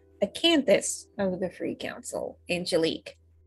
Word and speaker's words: Acanthus: And today I will be playing the Abramos of the Free Council. No, note that it's not. I said that wrong. I pronounced that incorrectly. Acanthus of the Free Council, Angelique.